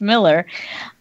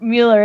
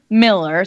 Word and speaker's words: Mueller: Don Miller and I know it's spelled Mueller but I've since found from the family that it is actually pronounced Miller after so many times